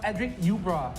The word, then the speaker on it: Edric Ubra: You can see Edric says his name is pronounced Edric Ubra.